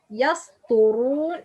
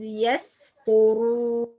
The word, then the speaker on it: يسطرون: Okay, to, not يسطرون. It's wrong, but the right pronunciation is يسطرون.